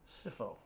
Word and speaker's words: Scipho: Scipho. You were I was close. The PH I got right because that's an F.